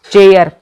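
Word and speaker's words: chair: जो आर है वो इनका क्या चल रहा है, साइलेंट चल रहा है, आर की इसमें आवाज नहीं आ रही है, चेयर ऐसे लिखते हैं, ठीक।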